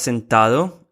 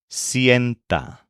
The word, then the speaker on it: sienta: This verb has a stem change whenever the first syllable is stressed. So, for example, the word for he or she seats is not senta, but sienta.